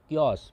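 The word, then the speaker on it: chaos: जाएगा वह होगा कस स्पेलिंग इसका सी एच एओ एस लेकिन इसको हम पढ़ते हैं कस कस मतलब अफरातफरी या फिर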